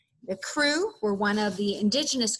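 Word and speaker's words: Kru: In this passage, I talk about crewmen, and that is spelled K-R-U. The crew were one of the indigenous groups that was living in Liberia at the time.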